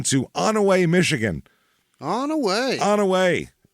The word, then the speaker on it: Onaway: it that's it and if you pronounce it differently you shouldn't CU it's onway it's the best way to do it here it is in